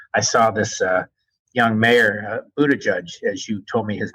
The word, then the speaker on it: Buttigieg: And I must say, I saw this young mayor, Buttigieg, as you told me his name is pronounced, who's the mayor of South Bend.